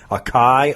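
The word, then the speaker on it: açaí: People call it acai or acai.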